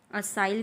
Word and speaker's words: acyl: सा ग्रुप बोलते हैं, असाइल ग्रुप या फिर एसिल, व्हाट एवर प्रोनाउंस। ठीक है, उसको हम क्या बोलेंगे, असाइल ग्रुप बोलेंगे। ठीक है, या फिर एसिल, जो आपको प्रोनाउंस करना है वो।